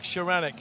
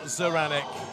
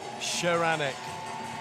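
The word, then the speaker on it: Szaranek: Don't pronounce the Z, says Dad.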